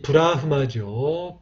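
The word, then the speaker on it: ब्रह्म: 이 브라흐마죠. 브라에서 끊으시고 흐마에서 끊어주시면 됩니다.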